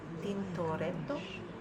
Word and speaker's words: Tintoretto: The other paintings by, I believe this is how you pronounce it, Tintoretto, and show various Doges with the Christ, the Virgin, and saints.